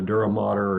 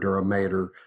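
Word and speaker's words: dura mater: this outer portion called the duramater or duramater you'll hear it pronounced different way so this outer very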